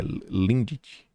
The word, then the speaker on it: Lindt: Lindt. É assim que se pronuncia.